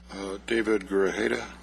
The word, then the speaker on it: David Grajeda: David Grajeda.